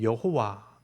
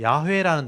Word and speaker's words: 야훼: 맞는다 맞다고 주장하는 거죠 야훼라는 단어를 들어보셨을 거예요 여호와를 원래대로 읽으면 야훼로 읽어야 된다라고 학자들이 이제 주장한 거예요